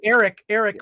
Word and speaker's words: Airk: His name is Eric, but it's spelled AIRK.